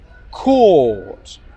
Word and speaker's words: caught: So, caught. Can you hear the vowel sound? It's a long vowel sound. Caught. Okay, let's compare that to cut. cut, cut, cut. Court is long, cut is short.